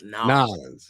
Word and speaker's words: New Orleans: I think that's how you say it if you're from there, isn't it? New Orleans? Nolans, yes.